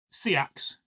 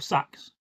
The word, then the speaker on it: Seax: So this Seax or Sax, there's no correct way of pronouncing it. Sax is more Viking and Seax is more Anglo-Saxon.